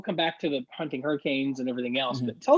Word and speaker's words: Hurricane: ice activity although there is a town called hurricane in west virginia and it is pronounced hurricane excellent job yes uh i don't